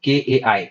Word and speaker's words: chi: 22nd letter होता है, इसकी स्पेलिंग होती है CHI, और इसको प्रोनाउंस करते हैं हम KAI, काय।